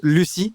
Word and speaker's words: Lucille: les gens sauront que ton prénom s'écrit Lucille, mais se prononce Lucie, ou est-ce que tu penses que c'est foutu à tout jamais?